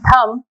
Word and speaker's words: thumb: are not pronouncing p in thumb we are not pronouncing v so these letters which